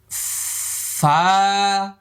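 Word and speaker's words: ف: এই 2 দাঁত এই ঠোঁটের মধ্যে লেগে যাবে, হ্যাঁ। এটা হলো 14 নম্বর মাখরাজ। এবার লক্ষ্য করুন, এই যে দাঁত দেখা যাচ্ছে। ওই যে আলিফ বলার সময় আমরা যে প্র্যাকটিসটা করেছিলাম, আলিফ মানে শেষে ফা ছিল, ফা, ফা, একালি পরিমাণ লম্বা, ফা। এভাবে বারবার বাতাসটা দাঁত এখানে লাগাইছেন, ফা, ঠোঁট লাগাইলে আর ফা হবে না, হ্যাঁ। এরকম করলে ফা বলতে পারবেন না।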